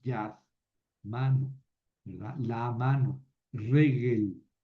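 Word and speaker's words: רֶגֶל: Regel, pie. Ojo con el acento en la primera sílaba.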